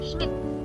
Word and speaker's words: Schmidt: Because D is pronounced as T and we already have extra T. So Schmidt.